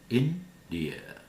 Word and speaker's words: India: India. Start high. India.